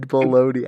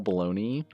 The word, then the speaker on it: bologna: bad what okay so why does that rhyme with boney english explain caught caught baloney to be honest i didn't even know how to spell bologna but i said baloney i don't that makes